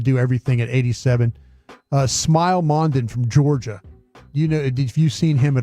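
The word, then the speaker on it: Smael: What's his first name again? Smile. smile. Yeah, it's spelled S M A E L.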